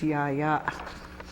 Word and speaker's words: Yaya: mother's mother yeah yeah we've heard little kids shorten it to yah yah yah but the correct way to say it is Yaya and your mother's father